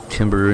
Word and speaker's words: timbre: Have it set up so all your inputs come in at the same volume, and then you can adjust the timbre and whatever the fuck, a little teeny bit.